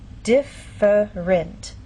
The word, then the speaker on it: different: syllable and down here the word different in very slow careful speech and especially formal speech you might get this pronunciation differerent but often in fast speech you lose that middle sound and you get different so again how do